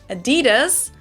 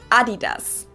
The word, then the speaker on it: Adidas: I didn't understand at all what they were referring to because they usually pronounce it Adidas and in Germany we say Adidas.